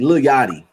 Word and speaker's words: Lil Yachty: Lil Yachty.